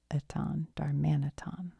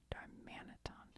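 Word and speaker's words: Darmanitan: How to say it? Darmman. Darmanaton. Darmanaton.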